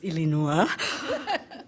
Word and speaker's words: Illinois: It's lovely to hear it pronounced as Illinois.